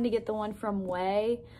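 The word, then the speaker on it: Ouai: get the one from way like if you know the brand way it's spelled like oh it's spelled o-u-a-i yeah that's pronounced way that's how i say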